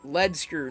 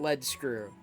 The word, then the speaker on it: lead screw: It's pronounced lead screw, not lead screw.